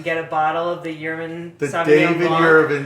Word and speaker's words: Yurman: If you have a hard time remembering how to pronounce that, just think of David Yurman, the jeweler, and that's a good hot tip, #hot tip.